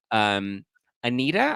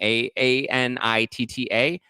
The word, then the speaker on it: Anitta: He was most recently spotted with Anitta. I think that's how you say her name. Anitta. And Anitta. I'm thinking it's Anitta. Anitta and Lele Pons, who